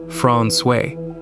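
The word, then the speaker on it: François: Francois, pronounced Fron, sits at the end of a small fjord on the south coast and has been there since the 1700s.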